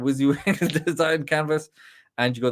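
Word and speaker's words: WYSIWYG: AI redesign you got the wizzy wig so that's how you say it if nobody knows you actually say like that wizzy wig design canvas and you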